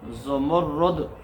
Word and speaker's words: زمرد: رکھیں، زمرد زا کے اوپر پیش، آگے میم کے اوپر پیش اور را کے اوپر تشدید اور اس کے اوپر پیش، یعنی را مشدد ہے اور اس کے اوپر پیش آئے تو اس کا تلفظ بنے گا زمرد۔ زمرد زا کے اوپر بھی پیش، آگے میم کے اوپر بھی پیش، آگے را مشدد کے اوپر بھی پیش اور آخر میں دال زمرد، یہ اس کا تلفظ ہے اور اس کا معنی